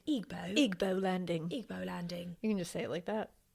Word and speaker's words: Igbo: Igbo Landing. I think that's right. Maybe should we look it up? Igbo?